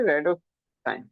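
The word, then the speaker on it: rhodopsin: র্যাডোসপি, র্যাডোস, P silent রয়েছে, র্যাডোসাইন, ঠিক আছে, র্যাডোসাইন পিগমেন্ট পাওয়া যায়।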